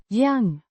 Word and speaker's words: jag: Jag means I, pronounced yang with a hard g. sound like in go.